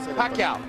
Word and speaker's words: Pacquiao: Ultimo, ang mga announcer ay hindi pa mabigkas ng tama ang dakilang pangalan niya. Pacquiao.